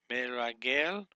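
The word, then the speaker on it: מרגל: Meragel, meragel, meragel is how you would pronunciate that. Three syllables long.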